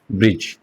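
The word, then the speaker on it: bridge: हम ये बोल रहे हैं ब्रिज। इसका मतलब डी हमारा साइलेंट है।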